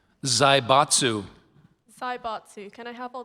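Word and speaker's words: zaibatsu: Zybatsu.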